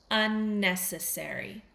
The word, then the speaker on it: unnecessary: unnecessary. Whenever we have the pronunciation with an airy on the end of it, in North American English, we say airy. We say necessary.